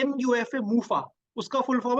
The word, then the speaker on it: MUFA: Spelling wrong है यहाँ पे, मोनो मैंने सैचुरेटेड लिख दिया, पर एक्चुअली ये मोनो अनसैचुरेटेड फैट है, जिसको मूफा कहते हैं, MUFA, मूफा।